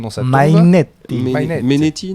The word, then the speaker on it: Mainetti: Menetti, non? Ils disent Mainetti.